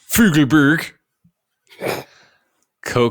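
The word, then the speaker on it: Fugleberg Koch: The project architects, of course, like Caribbean Beach, Fugelberg, Koch That's architects how it's pronounced.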